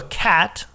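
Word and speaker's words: xat: Design Elements similar to a cat or Kate sorry which is a word in some languages that is used for Native American totem pole okay and that's spelled x a t by the way oh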